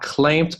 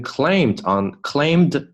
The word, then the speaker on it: clamped: wild cats huge paws，这个呢就是音标里面的 all paws are clamped onto，你不能读成 claimed onto，不能断得太开。OK。Clamped 这个 p 后面的 d 呢偏 t